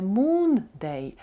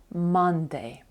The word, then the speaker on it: Monday: буде день місяця Monday але там скорочення йде Не moonay а Monday це є понеділок вівторок у